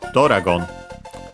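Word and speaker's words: ドラゴン: The accent is in this case on the do itself. So yeah, not exactly like in English, it's slightly moved in Japanese. Simply to make it accent on the first syllable. Oh yeah, it's like that, so be careful. So yeah, actually, Doragon, high, and then everything else low.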